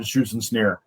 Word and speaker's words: Schützenschnee: And you pronounce it right. It is the German Schützenschnee.